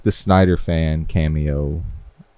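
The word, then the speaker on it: Snyder: And I I know I said his name wrong. Don't care. Um, I said Schneider. You did say I don't care. It's all right. Um, but definitely Snider fans.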